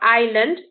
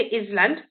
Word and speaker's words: island: silent then you've got the silent s so you've got island we don't say island debris we don't say